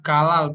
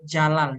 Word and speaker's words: Jalal: Actually, the pronunciation is not Galal, but Jalal. Jalal. Oh, I Jalal. see. So it's like Jalaluddin.